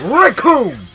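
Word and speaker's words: Recoome: Because the name's Raccoon! And it rhymes with Doom!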